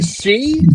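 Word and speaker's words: sídhe: The the she is spelled uh it's sh h ih in Ireland and in the ga it's shei. That's what they call the the benshi like the word banshee.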